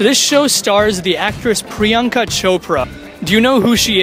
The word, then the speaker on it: Priyanka Chopra: It rhymes with Oprah. Priyanka Chopra.